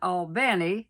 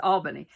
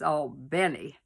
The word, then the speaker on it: Albany: beginning, which was in Albany, Georgia. That's how they say it down there. Now, if you're a Yankee up in New York, it's Albany, but down south, it's Albany.